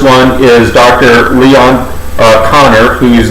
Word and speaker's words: Kanner: jew and and so for them they would pronounce k-a the way we pronounce c-o so it's conor you know and uh